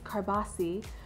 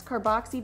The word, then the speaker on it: Carboxy: It's originally from Europe, so the Italian pronunciation is Carboxy. But over here in the US, we call it with the X, Carboxy, because it has to deal with carbon dioxide gas.